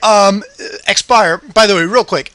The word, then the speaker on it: Xpiher: zappix about this I when I read your name I said expire that's how I've been calling you how do you pronounce your handle that's actually how I pronounce it uh I noticed that